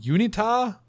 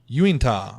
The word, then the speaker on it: Uinta: occurring in the yeah you and UNITA Uinta I mispronounced that Basin in Utah Utah